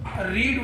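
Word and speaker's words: read: Pronunciation करते हैं इसका, तो इसकी जो फर्स्ट फॉर्म है वो रीड कही जाएगी, पढ़ी जाएगी, परंतु जो सेकंड फॉर्म और थर्ड फॉर्म है वो रेड और रेड कही जाएगी। इनका जो प्रोनाउंसिएशन है, फर्स्ट फॉर्म का रीड, सेकंड फॉर्म रेड और थर्ड फॉर्म रेड।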